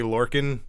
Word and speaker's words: Lorcan: So Biff Busick, obviously known as Oni Lorcan. You said it right. Yeah! Hey, look at you. First time! Like I said, the Orkin Man with an L.